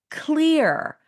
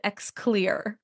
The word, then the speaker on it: Xlear: is the founder of Clear, but it's spelled X L E A R. I always used to pronounce it Xclear. So now we know how to pronounce it. It's pronounced clear.